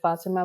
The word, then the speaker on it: Fatima: It's a very special name that is pronounced in different ways by different people from different cultures. And so I pronounce it Fatima, but I also, you